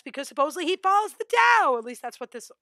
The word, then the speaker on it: Tao: It is either spelled with a D or a T. They're oddly enough, it sounds exactly the same. You would say it Tao, whether it's spelled with a T or a D, means the same thing.